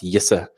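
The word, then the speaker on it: Jisse: Tom Robert Shaw, Yissa, who I've through a lot of very personal encounter and coaching, I've learned how to pronounce Yissa.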